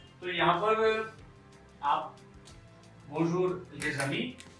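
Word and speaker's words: Paris: है, बट in French, लेकिन फ्रांसीसी भाषा में इसको कहेंगे हम पारी, PARI, पारी। एस क्यों नहीं कहेंगे? क्योंकि एस साइलेंट रहेगा।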